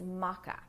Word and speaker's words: maca: thing I typically add to my smoothies is maca now Maca is spelled m-a-c-a maca powder is great because it's